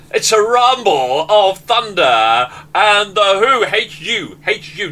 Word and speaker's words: The Hu: Rumble of Thunder and the who hates you hate you not w h u The Who I think that's how you pronounce it now Paul have you